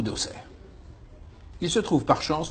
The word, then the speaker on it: Auxerre: Est-ce sa faute, après tout, s'il savait déjà à 12 ans que Castellane se dit Castellane, et qu'on ne prononce pas l'X de Bruxelles ou d'Auxerre?